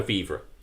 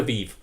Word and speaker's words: vivre: with Neil's joie de vivre. Is that how it's pronounced, vivre? Vivre. It should be without the E, but I did it